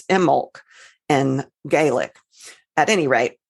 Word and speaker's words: Imbolc: mention Imbolc, which actually in Gaelic, the B is not pronounced. It's Imbolc in Gaelic. At any rate, I've always called it Imbolc.